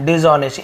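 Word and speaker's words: dishonest: आपको मिल गया डिशऑनेस्ट ऑनेस्ट डिशऑनेस्ट silent होता है लेकिन लिखते हैं बेईमान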